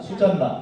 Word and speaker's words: 수산나: 근데 이제 발음이 우리 그 수산나라고 돼 있지만은 수잔나라고 보통 발음을 합니다. 수잔나.